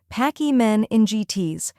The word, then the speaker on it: pachymeningitis: The correct pronunciation is pachymeningitis. First, we have pack, which sounds just like pack in backpack. Then, e, which sounds like the e in C.